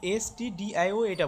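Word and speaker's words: stdio: না স্টুডিও বলবা না এসটিডি মানে স্টুডিওটা এখানে এটা বলবা না বুঝছো এখানে স্টুডিও বলবা না এই এসটিডি আই ওটা বলবা তোমরা আবার এই ছবি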